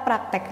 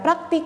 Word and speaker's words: praktik: ada kata praktek nah kata praktek di sini tidak sesuai dengan penulisan ataupun pengucapan KBBI Kenapa karena seharusnya ini bukan menggunakan huruf E tapi dia menggunakan huruf i jadi harusnya kata baku yang tepat itu adalah praktik bukan praktek berarti di sini kita